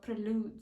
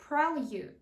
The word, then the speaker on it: prelude: Ні, ми не читаємо його як prelud. І його ми читаємо як prelude.